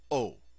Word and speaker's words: aux: contraction and they become aux also pronounced o when du is followed